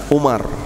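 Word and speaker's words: عمر: Kalau tidak ada wawunya di depan, Umar.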